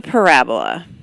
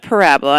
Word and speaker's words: parabola: say it it's a parabola we pronounce that parabola and not parabola parabola it's not a disease so don't make it sound like one and so when we